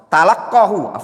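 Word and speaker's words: تلقاه: Dia ambil atau talaqqahu, itu bacanya talaqqahu an rajulin majusi fil Basrah.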